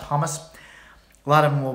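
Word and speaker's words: khomus: I've noticed a lot of Comus players, and I'm probably mispronouncing it. I've been calling it Comus. I think it's pronounced hummus.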